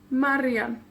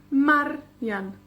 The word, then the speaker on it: Marian: Por ejemplo, mi nombre, Marian, 2 sílabas. El énfasis cae en la penúltima, que es en esa palabra también la primera, pero en la penúltima. Marian.